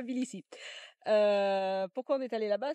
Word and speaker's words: Tbilisi: Ça s'écrit Tbilisi, et moi je disais Tbilisi. Donc notre copain Thierry m'a fait tout un cours que ça se disait Tbilisi.